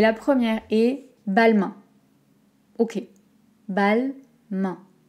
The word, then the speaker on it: Balmain: première et balmain hockey balle main al balle main comme la main balle mais ça va